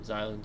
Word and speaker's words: Xylem: The X sounds like a Z.